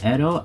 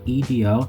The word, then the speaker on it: Edo: guess it's actually called Edo, if I'm not mistaken. I could be saying it wrong. Don't give me the lines. It's spelled E-D-O. It's probably Edo, or Edo, and became the imperial